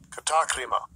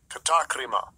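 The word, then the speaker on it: κατάκριμα: Let's look up this word, condemnation, in the Strong's G, the pronunciation. Strong's G, 2631, katakrima, katakrima.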